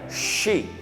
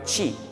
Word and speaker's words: she: Ojo con la pronunciación en inglés, muchachos, de la SH. La SH tiene un sonido especial. Por ejemplo, si yo digo español, Spanish. Inglés, English. Terminar, finalizar, finish. Ella, she, no chi, she.